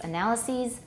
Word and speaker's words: analyses: analysis the pluralist analysis you replace the i with an e and you pronounce it ease so analysis analyses basis bases axis axes the confusing thing is it's